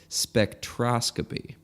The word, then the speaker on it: spectroscopy: number two it's we were both wrong it's pronounced spectroscopy nice yeah so who knew not us not